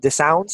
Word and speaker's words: dissonance: I can't pronounce that word. It starts with a D. Was it Is it dissident? dissonance?